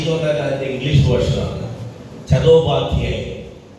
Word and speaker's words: Chattopadhyay: ചതോപാധ്യായ്. British people could not pronounce Chattopadhyay, so they said Chatterjee.